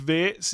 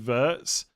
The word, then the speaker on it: Wirtz: I know it's Wirtz instead of Verts, but I've said Verts for so long.